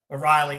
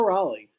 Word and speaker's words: Raleigh: First off, my man of the week is going to be Cal Riley O'Reilly. How do you pronounce his last name? Cal Raleigh.